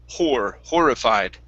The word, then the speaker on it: horrified: here you're still saying instead of horrified it go right to an o instead of an oo sound it's horrified horrified there you go that's